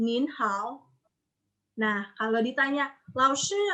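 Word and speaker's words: 您好: Yang pertama itu ada nin hao. Nin hao. Nin-nya tanda nin hao. Nin hao. Karena emang dari sananya nin itu ton 2. Nin hao.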